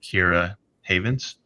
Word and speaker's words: Keira Havens: of Lights Out for hooking us up with Kira Havens and setting that up for us. Did I Did I just completely butcher the pronunciation of your name?